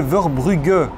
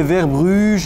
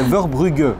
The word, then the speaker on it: Verbrugge: Alors, petite précision quand même, c'est Verbrugge, voilà. Si vous le prononcez un petit peu à l'arrache. Enfin, quelqu'un qui prononce bien mon nom. C'est facile. Ça fait longtemps que ça ne m'était pas arrivé. Donc, évitez les Verbruges et les choses comme ça, c'est Verbrugge. Voilà.